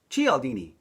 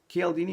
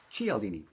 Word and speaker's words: Cialdini: psychology of persuasion by Robert B tchy aldini not Chiellini not CL DD g LD me I had read one of those books earlier and I think I butchered his last name but it's G aldini and his book has